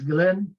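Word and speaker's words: Guillen: is spelled g-u-i-l-l-e-n okay and that's Glenn is how you pronounce it because it's okay okay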